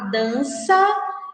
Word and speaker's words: dança: Por exemplo, a palavra dança, vejam só, quando nós pronunciamos essa palavra dança, essa sílaba sa tem o som de S. No entanto, é escrito com C cedilha.